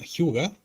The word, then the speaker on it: hygge: hay un concepto que se llama Hyuga, que es un concepto danés.